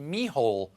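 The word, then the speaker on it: Micheál: hair was driven out along with ireland snakes mihol martin now his name kind of looks like michael but it's pronounced mehol it's just one of those weird irish things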